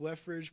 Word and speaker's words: Lefeged: right you know the your last name left ridge it's pronounced left ridge but it's not spelled that way what's up with the